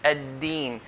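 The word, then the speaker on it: الدِّين: I have to make sure that it's pronounced as a dal, ad-din, and not ta. If I say Maliki yawmiddin, okay, this is changing to a ta, okay.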